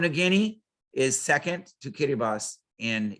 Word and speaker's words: Kiribati: in kiribati and um or it looks like kiribati the way they spell it but it's kiribati these three island groups